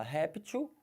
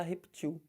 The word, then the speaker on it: réptil: jacaré eles são répteis Então você fala réptil mas também pode falar repetiu estranho para caramba né pensa